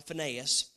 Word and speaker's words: Phinehas: Your two sons, Hophni and Phinehas, or some people pronounce it now Phinehas, were also killed in the ark of God had been captured.